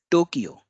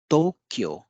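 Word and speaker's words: Tokyo: से जानते हैं और इसका उच्चारण भी हम दो क्यों करते हैं लेकिन आपको आश्चर्य होगा कि इसका उच्चारण या जो एक्चुअल जो शब्द है वह है तो क्यों तोक्यो तपे ओ की मात्रा वह आधा क यो तो क्यों है तो क्यों है तो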